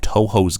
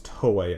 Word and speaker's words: Toei: watching trailers, because I was not familiar with Toho's game. Those guys be crazy. It's not Toho, it's Toei.